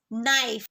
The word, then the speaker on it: knife: Here the answer is knife. Silent letter is K.